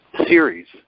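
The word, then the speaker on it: Ceres: me about this planet spelled c which is pronounced Series so now I'll share a couple of these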